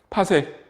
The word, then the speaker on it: 파섹: PC라고 쓰고 읽기는 파섹이라고 읽어요. 파섹.